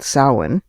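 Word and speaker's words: Samhain: So the Wiccan New Year, which is called sin, spelled s a m h a i n.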